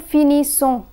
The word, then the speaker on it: finissons: The letter S in ONS is silent. Nous finissons.